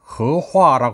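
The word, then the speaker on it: 荷花: 다릅니다 작년에는 연꽃을 배치했습니다 연꽃을 중국어는 허화 하는데 허자는 조화로울 허와 발음이 같습니다 작년만 해도 두 나라가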